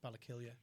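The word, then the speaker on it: Ballakilley: It's spelled with an EY, Yeah. but it's pronounced Ballakillia.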